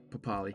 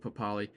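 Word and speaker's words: Papalii: iongi and um Josh papali I know it's spelled papal but pretty sure he wants to be pronounced uh papali so yeah I like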